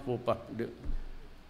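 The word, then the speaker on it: faux pas: you read it TH It's Fox pass pronounce fupa Yan ang totoo ngayon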